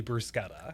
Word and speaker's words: bruschetta: Do you say bruschetta or brusqueta? Well, it's actually brusquetta.